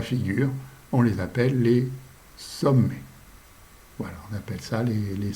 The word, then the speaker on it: sommets: MET, ça fait mais, ça se prononce mais. Le S, ça ne se prononce pas parce qu'il y en a plusieurs, mais il ne se prononce pas. Il y a 2 M, ce qui fait que ça ne fait pas sommet, mais sommet.